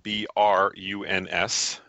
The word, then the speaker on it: Bruns: That's spelled B-R-U-N-S. Not Burns, it's Bruns.